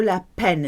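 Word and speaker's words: la peine: I could can do lepen it that is pronounced like a pen you write with I'm gonna jump it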